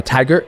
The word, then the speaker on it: Tagir: his name it's t a g i r tiger tiger tiger is how you say it tiger